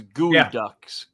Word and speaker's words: Geoducks: It's spelled like Geoducks, but it's Gooey Ducks.